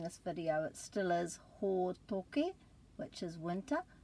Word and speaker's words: hōtoke: So remember the a, e, i, o, u, and make sure you put a break after every vowel and practice with me pronouncing the word for winter, hōtoke.